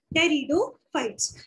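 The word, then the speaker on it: Pteridophyte: Next category आती है टेरिडोफाइट्स। यहाँ पे पी साइलेंट है बेटा। टेरिडोफाइट इसको प्रोनाउंस करते हैं।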